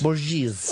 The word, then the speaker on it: Borges: Borges.